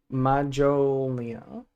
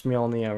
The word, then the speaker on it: Mjolnir: Majolnia. Is that how he said it? There's no way he doesn't know how to pronounce Mjolnir, right? There's no way he said Majolnia.